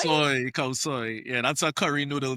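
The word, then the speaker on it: khao soi: Khao Kosoy. soy, khao soy.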